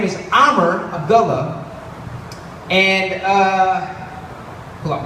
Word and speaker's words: Amer: I break it up into two syllables. First syllable, ah.